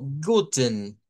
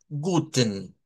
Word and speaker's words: guten: Si suena la schwa como guten, guten, ten. Se escucha más así fuerte. Y si no, lo decimos más a secas, como está en la página, en la de Wiktionary, y decimos guten, guten.